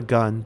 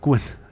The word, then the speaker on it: 棍: It's called a gun, but I think they're trying to say 棍, which is the word for a stick. Right, it's pronounced 棍.